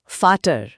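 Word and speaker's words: Vater: उदाहरण के लिए हमने शब्द सीखा था फाटर। हम उसे फाटर लिख रहे हैं। पर असल में एक जर्मन उसे फाटा जैसा कुछ बोलेगा। वो आखिरी र लगभग गायब हो जाता है।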